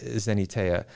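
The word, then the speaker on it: Xeniteia: How I pronounce it. Okay, that works. X-E-N-I-T-E-I-A, Zenateia.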